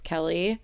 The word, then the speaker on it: Kelee: you guys don't know my name is spelled weird so it looks like it could be pronounced key but it's Kelly so the front desk